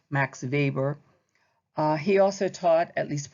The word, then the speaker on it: Weber: German this time and it is pronounced like a V Max Weber he also taught at